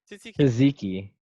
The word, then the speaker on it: tzatziki: I don't even know how you got to the pronunciation you got to. Tahiki. There's not even an A. Tahiki. Tzatziki.